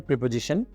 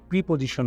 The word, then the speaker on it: preposition: সাথে আমরা কি ধরনের প্রিপজিশন ইউজ করে থাকি আমি বোধহয় আগের কোন একটা ভিডিওতে বলেছিলাম উচ্চারণটা কিন্তু প্রিপজিশন নয় প্রেপজিশন রাইট এই ভুলটা আমরা প্রায়ই